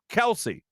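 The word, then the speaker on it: Kelce: i'm jason kelsey he says his own name kelsey so then i started thinking to myself is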